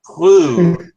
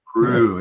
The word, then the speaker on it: Proulx: Prue, right? Prue, yes. It's the L and the X are always silent, but thanks for inviting Warren and I here tonight.